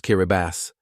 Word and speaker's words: Kiribati: Number 9 is Kiribati, pronounced Kiribati, which won independence from the United Kingdom in 1979.